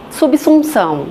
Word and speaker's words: subsunção: eu pego uma palavra, por exemplo, essa subsunção, que é da área jurídica, e aí vou e explico por tem um som do S, não um som do Z.